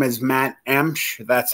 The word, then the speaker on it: Emch: People just kind of kill that last name. Emch. They add vowels and words like they think they're going to correct how it's said. So it's just pronounced Emch, E-M-C-H.